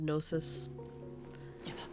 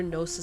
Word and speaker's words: gnosis: how to spell it they'll try to spell it with an N they'll hear gnosis support club and they'll be like n o they'll spell it like noses support Club and while I